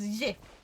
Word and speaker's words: GIF: Apparently the official pronunciation is JIF. That's what you're supposed to say.